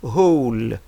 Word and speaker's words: whole: So, ici, on prononce seulement le H, on ne prononce pas le W.